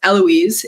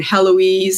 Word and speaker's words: Heloise: to pronounce the h it is so hard for us to just not pronounce the first letter at all look Italy is a